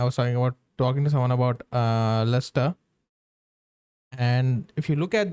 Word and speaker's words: Leicester: You just ignore the letters between the first syllable and the ester.